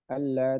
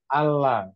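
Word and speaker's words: ألا: itu bacanya bukan Allah. Kalau Allah itu dari kata an digabung dengan la. Jadinya lamnya ditasdid. Allah, gitu ya. Allah. Tapi kalau ini adalah A Hamzah Istifham bertemu dengan La Nafiyah.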